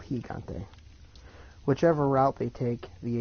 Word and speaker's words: Gigante: energy gone tape and the actual Spanish the proper Spanish pronunciation is El Gigante whichever route they take